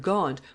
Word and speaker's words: Gaunt: This word Gaunt was the nearest approach that the English people could make in those days to the pronunciation of the word Ghent, the name of the town where John was born; for King Edward, in